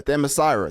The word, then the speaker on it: Themyscira: Yeah, Themyscira. There you go. I was definitely gonna butcher that. So I did not think it was Themyscira.